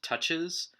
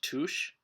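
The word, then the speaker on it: touché: you pronounce it points in fencing are called touches and in french it's pronounced tush so not touche so it's a common mistake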